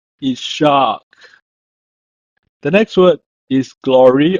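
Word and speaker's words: יצחק: is a name called Isaac is pronouncing in Hebrew as is shock is shock the next word is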